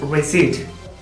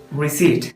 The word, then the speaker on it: receipt: It is receipt. So രണ്ടാമത്തെ സിലബിളിലുള്ള P silent ആണ്. So it is pronounced receipt.